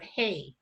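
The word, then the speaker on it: hei: is the sound of hay it's pronounced h-e-i but you say it like hey h-a-y it's spelled h-e-i so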